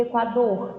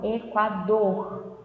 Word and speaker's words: Equador: E Equador, Equador. Então a gente percebe que se prolonga no final, tá bom?